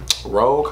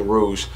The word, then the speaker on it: Rouge: So I believe that is Rogue. I mean Rouge.